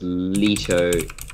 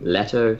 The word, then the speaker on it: Leto: leisure or letter so it's a Greek name and originally it was Leto in the original Greek pronunciation but American pronunciation has shifted to Leto so you technically right